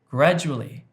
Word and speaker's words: gradually: I said gradually, gradually, when in fact the stress should have been on the first syllable, gradually, gradually.